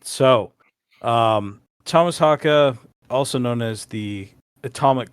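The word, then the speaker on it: Tomas Haake: a lot of online discourse about how to pronounce his last name, and that's what he said. So, Thomas Haka, also known as the Atomic Clock, um, I've heard that before.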